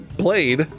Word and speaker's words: BL4DE: Yeah, but how do you pronounce that? Oh no. Blade.